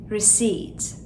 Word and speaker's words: receipt: P harfimiz sessiz. Nasıl söyleriz? Receipt.